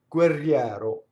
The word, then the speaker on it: guerriero: Notice that the G doubled. So o guerriero. There's just a slight space.